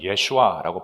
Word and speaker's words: 예슈아: 참 신기하게도요.이 여호수아라는 그 이름은 히브어로 여호수아가 아라모 신약에 와서는 예슈아라고 발음을 하는데 그게 바로 예수 이름입니다.